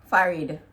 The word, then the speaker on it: forehead: We just say forehead. Mm. Right? We don't really pronounce the R that much, so it's just forehead. Farid.